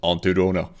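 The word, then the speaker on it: Aunty Donna: It's pronounced Auntie Donna.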